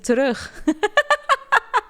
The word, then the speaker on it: terug: what syllables are in the words terug. It's 2, not 1. You just pronounced it like it only has 1.